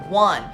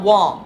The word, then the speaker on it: one: And by the way, this word is pronounced as one, not Wong, which I also heard from students.